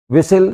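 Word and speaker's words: whistle: बनाना किसी बात का टी साइलेंट है विसल सिटी सिटी बजाना टी साइलेंट है।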